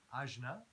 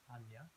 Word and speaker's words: Ajna: And Ajna, which can also be pronounced Anya, as you said, is the third eye chakra.